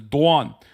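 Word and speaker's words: Doğan: My middle name is Dwan. It has a silent G in it.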